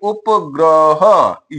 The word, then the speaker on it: उपग्रह: भाई उपग्रह यह इसका उच्चारण है।